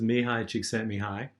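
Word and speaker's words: Mihaly Csikszentmihalyi: provide extra credit to the student who could pronounce his name I think we've actually done that so this is Mihai Csikszentmihalyi he pioneered studies in inflow optimal experiences one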